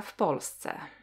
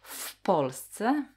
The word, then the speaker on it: w Polsce: Ona mieszka w Polsce. She lives in Poland. Ona mieszka w Polsce. So w Polsce means in Poland. W Polsce, but quickly when we pronounce as w Polsce, w Polsce.